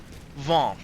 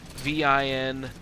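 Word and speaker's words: vingt: Vin. V-I-N-G-T.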